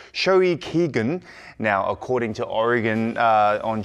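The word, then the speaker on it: 消費期限: And 17 have now topped Japan's Oricon weekly singles chart with their 4th Japanese single pronounced Shoi Kigen.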